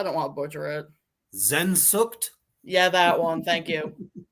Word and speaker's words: Sehnsucht: How do I pronounce it, Reaper? I don't want to butcher it. Sehnsucht?